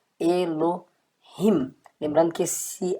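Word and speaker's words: אלהים: Inclusive no hebraico moderno, às vezes ele nem é pronunciado como na palavra Elohim, tá? Mas claro que você pode pronunciar claramente Elohim.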